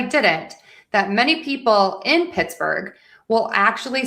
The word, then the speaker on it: Pittsburgh: So, let's start with Pittsburgh. We're going to stress syllable number one.